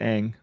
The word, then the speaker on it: Ng: Apparently, it is a Cantonese transliteration of a Chinese surname. Wu. Interesting. So apparently, it's pronounced Ang.